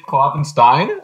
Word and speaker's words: Kloffenstein: So I like Steen better. I just tell people to say it like there's two E's instead of an E and an I. But it's very common, and either works.